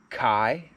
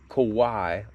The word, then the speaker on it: Quai: i've heard it called kai i've heard it called kawhi like kawhi leonard which i'm pretty sure that's not right and most recently i've